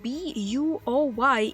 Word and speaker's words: buoy: Why do you write it B-U-O-Y if you say buoy?